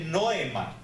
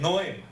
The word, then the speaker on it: noema: Entonces, aquí cuando habla de sentidos, esa palabra sentidos es una palabra que se escribe noema, así como lo oyen, noema, dictada en la O.